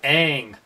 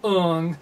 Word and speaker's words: Aang: Night Shyamalan, this is Aang. Aang! Not Ung.